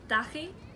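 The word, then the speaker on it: dachaigh: It's dahi.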